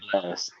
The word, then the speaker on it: Blxst: I think it's Blaxt, or I don't know. it's But you just Simply say said, blast.